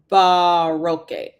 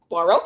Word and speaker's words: Barro: Barro. Oh, barro. That's how you pronounce it cuz I was like, is it Baro Baroque? Because sometimes it could be either one. And I'm like, okay. So, it's Barro.